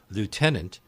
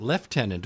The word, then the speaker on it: lieutenant: confusing ones for example we pronounce a certain military rank lieutenant the British pronouncement leftenant although there's no F in that word well that actually started